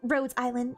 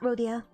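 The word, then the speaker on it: Rhodes Island: Also, sorry, it's it's roads island, not Rodia.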